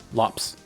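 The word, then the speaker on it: Lopes: including s like it's Lopez but apparently his name is Thiago and it's pronounced like lops so it's tiops tiops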